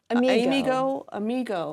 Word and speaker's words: AmiGo: AmyGo. Like friend.